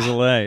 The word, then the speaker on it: Zalay: I don't even pronounce it correctly based on like my like the phonetics of the country it's from. Like I'm from, or my name is from Hungary. Okay.